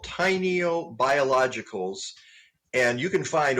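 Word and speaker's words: Tainio: here today because they they sell products by tiny oh and tiny Oh is spelled it sounds like t iny - oh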